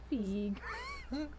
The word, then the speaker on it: Feig: Feig. Like Eve.